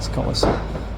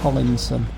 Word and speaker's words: Collison: Also, if you follow Collinson, it's Collison, but for years I used to pronounce it Collinson.